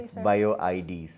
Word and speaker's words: Bio-IDz: sitting here today with Mr Ranjit shyamaladas of bioids am I pronouncing it correctly bioids that's thank you for letting me know so